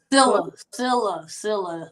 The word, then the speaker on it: Sillia: Sillia. The last I is silent, so it's pronounced Sillia.